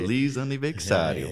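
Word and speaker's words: Feliz aniversário: Feliz aniversario. Is that how you say it? Feliz aniversario.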